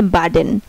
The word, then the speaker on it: Baden: যেমন এই যে এখানে আছে বি, সবার ফার্স্ট ওয়ার্ড হচ্ছে বি, তারপর হচ্ছে এ, BADEN, আর এটা উচ্চারণ হচ্ছে বার্ডেন। আর সেম বি যখন শেষে হয়েছে AB, আপ, তখন পয়ের মতো উচ্চারণ হয়েছে।